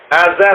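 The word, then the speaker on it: آزر: keliru ajarar ajar biar enggak ngantuk ya Antum Azar Azar bukan Azar ya Azar pakai Nam bapaknya Nabi Ibrahim alaih salam barak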